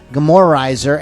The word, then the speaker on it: Gomorrahizer: Like Sodom and Gomorrah, It's- Izer.